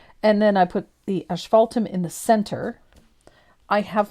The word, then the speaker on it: asphaltum: this one I love this one is it asphaltum or Ash fault them asphaltum ESS no a-s-p-h but how is it pronounced asphaltum asphaltum yep or you can do it's a German